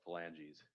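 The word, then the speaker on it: phalanges: If the court if the court needs pronunciation, uh it's pronounced felanges.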